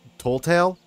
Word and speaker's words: Telltale: found out that, also, I've been saying their name wrong. It's, was it Telltale?